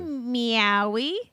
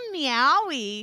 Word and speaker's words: Maui: We're going to Maui. No, you have to say that right. We're going to Maui. That's not how you say it. You're like also Maui.